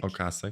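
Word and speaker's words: Ocasek: was a rockar yeah Rick okas if I'm pronouncing Rick okas okas yes a lot of people I did ask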